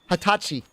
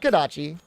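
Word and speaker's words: はたち: special name for it Hatachi Hatachi D normally it'd be like n juai but when you're 20 it's Hatachi I think I spell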